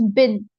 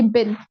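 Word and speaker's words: been: student b n but it pronounced as bin like we have dust bin similarly bin are you getting my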